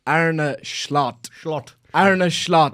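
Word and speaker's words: Arne Slot: told rapidly by my Dutch followers that it's AR a schlot schlot ara schlot like a true May man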